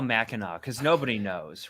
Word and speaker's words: Mackinac: See, it sounds like, if you enunciate it, it sounds like Mackinac. Right. That's a great point. Are you sure this you're is why we brought pronouncing you on it the right?